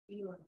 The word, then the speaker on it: 6월: 유월. 예? 요거를 유월이라고 읽어요. 예? 이거를 6월이라고 읽지 않습니다. 유월이에요. 괜찮죠?